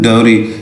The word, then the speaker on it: dowry: इसे बेटा हमने पढ़ना है डाउरी। जैसे हम DOWN पढ़ते हैं ना डाउन, राइट, उसी तरह से है DOW आता है इसमें भी स्टार्ट में, तो ये डाउरी इसे प्रोनाउंस करेंगे, जिसका मतलब होता है जहेज।